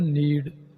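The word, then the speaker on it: knead: English में कहते हैं नीड यहां पर के साइलेंट रहेगा नीड गूदा हुआ आटा इसको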